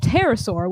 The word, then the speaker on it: pterosaur: There's a P and then a T. So pterosaur. You don't pronounce the P. It was a huge pterosaur with a wingspan of up to 13 meters, more than 40 feet.